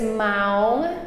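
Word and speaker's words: ម៉ោង: keep trying our is ma remember rhymes with cow m m so it's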